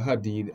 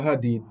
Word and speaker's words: Hadid: It's pronounced Hadid, yeah. Like you said fast, Hadid.